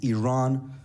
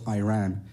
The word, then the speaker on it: Iran: the Iranian people but you're pronouncing a country's name wrong a country is named Iran not Iran please once and for